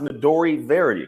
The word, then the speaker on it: Midori Verity: It's pronounced Midori Verity, correct?